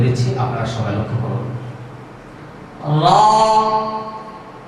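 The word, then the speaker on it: ر: মাখরাজ আবার ছা আর রা একই মাথা আছে জিহ্বার আগার সামনের এই উপরের দুই দাঁতের আগার সঙ্গে লাগিয়ে এই হরফটি উচ্চারণ করবো তবে হরফটি খুব পাতলা নরম লক্ষ্য করো সবাই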